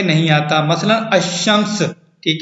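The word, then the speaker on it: الشمس: शम्सी कहलाते हैं, यानी लाम सामत होता है, साइलेंट होता है और तलफ़ुज़ में नहीं आता। मसलन अशम्स, ठीक है, अशम्स अलिफ और शीन, ये मुशद्दद शीन जो है वो मुशद्दद है, पढ़ा जाता है।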